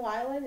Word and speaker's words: Weiland: It's Weiland, is that's that how right. you pronounce it?